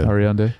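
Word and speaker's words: Ariadne: Ariande, is that how you say it? Yeah. Ariande is the production designer.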